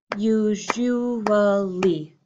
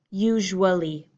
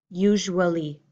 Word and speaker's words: usually: here on your screen my long beautiful pronunciation would be usually again four pieces usually however my poor my reduced American English pronunciation sounds more like usually usually how often do you